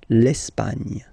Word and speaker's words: L'Espagne: Okay, don't insist on the final E because basically it's not pronounced. L'Espagne. L'Espagne.